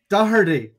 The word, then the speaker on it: Doherty: Doherty. Yeah. Why don't we just let the guest pronounce say their name?